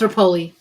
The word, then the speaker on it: Rapolei: Repo or Repi? I think it's No, it's Rapoli.